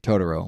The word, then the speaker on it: Totoro: Totoro, like the English dub, motherfuckers.